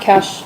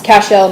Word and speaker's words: Cashel: I probably it's old Moazebo the yoga deck over in uh it's not Cash, it's Cashel, not Aster Pass.